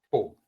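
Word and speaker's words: 不: La B en chino en pin se pronuncia como una P, no aspirada. Pu, solamente pu, como puerto. Pu, así, no es bu.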